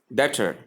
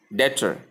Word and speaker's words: debtor: Number 8, debtor. Debtor. Error. Pronounced with the B sound or with the B as debtor or debtor, as the case may be. But the correct pronunciation keeps the B silent.